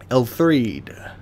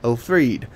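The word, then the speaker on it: Elfriede: Elthreed. Why do I pronounce that like a TH? Elfried, the eldest amongst her sisters and leader of the Sable Church, bestowed the sword to her knight.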